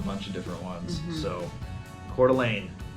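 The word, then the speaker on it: Coeur d'Alene: of different ones so cordelane c o e r heart of the all right heart of the all and this is yeah French French word MH just like another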